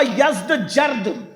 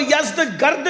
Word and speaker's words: یزدگرد: جس کا نام تھا یزدجرد، اس کو یزدگرد بھی کہتے ہیں ایرانی لب و لہجے میں، عربی میں یزدجرد کہتے ہیں۔ ایرانیوں کی جنگ ہوئی